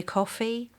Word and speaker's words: Ko-fi: So other alternative sort of GoFundMe type things are GoFundMe, Venmo, Buy Me a Coffee. There's one literally called Coffee, but it's spelled KO-FI.